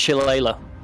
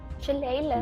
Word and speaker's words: shillelagh: It's pronounced Shillelagh. Shillelagh.